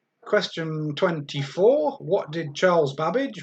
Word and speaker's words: Babbage: 24 what did charles babbage rhymes with cabbage invented in 1935 it